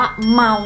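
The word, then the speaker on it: 猫: อะไร ใช่ แล้ว ค่ะ คำ นี้ นะ คะ อ่าน ว่า เมา นั่น เอง คะ เมา แปล ว่า แมว นั่น เอง ค่ะ นี่ แหละ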